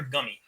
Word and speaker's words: Gumi: Is it Gumi or Gummy? I always say Gumi because that's how with I in the Japanese is pronounced.